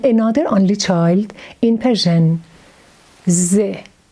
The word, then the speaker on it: ز: Z sound is only child like the and re. Now look at the way we write Z. Z is pronounced exactly like Z in English.